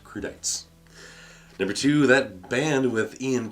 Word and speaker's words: crudités: word is crude e tape create a snap pronounced crudités number two that bandwidth e'en Kilmister is better